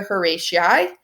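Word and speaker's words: Horatii: Um there's of course Devid again he's probably the best known neocclassist in his Oath of the Horati or Herati. You hear it pronounced both ways.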